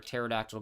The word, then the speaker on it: pterodactyl: You can't hear a pterodactyl going to the bathroom because the P is silent, Raytheon.